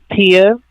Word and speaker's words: Tia: Do you spell it Peon? Tia, TIA.